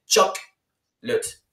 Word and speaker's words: chocolate: Et donc là, on voit que c'est chocolate. Chocolate. Leut ou late? Voilà. Leut. Ouais, chocolate. Chocolate. C'est comme si tu écrivais L-E-I-T.